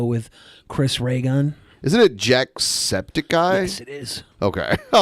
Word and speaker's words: Jacksepticeye: in the video with Chris Reagan isn't it jacksepticeye yes it is okay I was like what